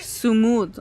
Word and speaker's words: Sumud: بالتالي Sumud. Okay, that's how you pronounce it.